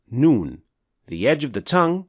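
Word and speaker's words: نون: Noon is another letter pronounced from the edge of the tongue. The edge of the tongue is that highlighted area. So now, how is Noon pronounced? In order to pronounce Noon properly, you need to perform two actions. One action using your tongue, and the other action through your nasal cavity.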